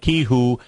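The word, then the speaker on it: Qihoo: in the case of Ki who that's how you pronounce it q i h u is a ticker symbol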